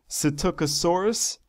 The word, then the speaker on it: Psittacosaurus: But according to Wikipedia, its Latin name is pronounced Psittacosaurus. The Psittacosaurus, it's about 2 meters long, which is 6.5